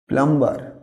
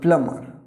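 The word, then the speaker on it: plumber: প্লাম্বার, না এটা প্লাম্বার না, এখানে বীর উচ্চারণটা সাইলেন্ট হবে। প্লাম্বার কাকে বলবো আমরা? মানে এটা যারা কলের পাইপের কাজ করে, উচ্চারণটা হবে প্লামার, প্লামার।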